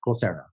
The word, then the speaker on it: Coursera: Now, you are the co-founder of a group called Coursera. Is that how you pronounce it? Yes, Coursera.